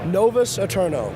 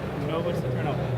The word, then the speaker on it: Novus Aeternos: First of all, how do you pronounce the title of your game? Novus Aeternos. Novus Aeternos.